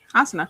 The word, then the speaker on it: Asuna: Asuna, am I saying it right? Asuna. Yeah. Asuna.